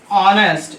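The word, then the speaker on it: honest: तो यहां पर मैन की वजह से ए लग रहा था, लेकिन ऑनेस्ट में जो प्रोनाउंसिएशन है वो ए का आता है, आ का आता है, इसलिए एन लग गया, ठीक।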